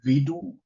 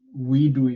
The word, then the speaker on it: WIDU: It's in German, we would say WIDU, because in German you pronounce W as a V and you pronounce a V as an F.